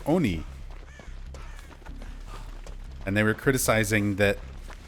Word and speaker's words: oni: um for decades and I've never in my life heard somebody pronounce it "on e". And even looking up footage just to make sure I wasn't like being Mandela affected, I've I pulled up a video of a native Japanese speaker talking about the history of the folklore of the Oni and they say it just the same way I say it, Oni.